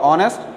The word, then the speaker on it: honest: is use honest before honest there is you if you pronounce honest your first part of his word is first part of this word is utter vowel then article a and